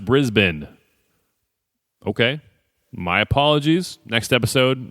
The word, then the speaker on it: Brisbane: next day it's pronounced Brisbane okay my apologies next episode I explain my bad guys it's pronounced Brisbane more messages still wrong it's Brisbane say it like there are no vowels in it Brisbane I finally decided